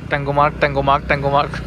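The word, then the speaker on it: Tangmarg: এটা হচ্ছে ট্যাংমার্গ bus stand. ট্যাঙ্গোমার্গ ওরা বলে ট্যাঙ্গোমার্গ, লেখা দেখি ট্যাংমার্গ, উচ্চারণ আর কি ওদের।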